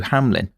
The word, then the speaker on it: Hamlen: A scene of crime examiner, Michael Appleby, would later testify that no one else could be a better fit than Matthew Hamlen (pronunciation: Ham-lin).